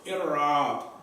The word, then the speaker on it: إعراب: This, how do we pronounce this? إعراب. I'rab.